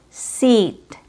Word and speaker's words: seat: The first one is seat. This one is tense.